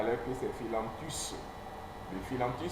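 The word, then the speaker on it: Phyllanthus: Alors, c'est ça qu'on appelle les philanthus.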